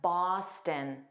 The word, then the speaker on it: Boston: Boston. The issue I hear is that last sound. It needs to be unstressed. So, it sounds like a tin.